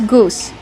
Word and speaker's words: goose: How do we pronounce goose? Goose. Use the long ooh like boot and food. Goose plus the s sound with no voice. Goose.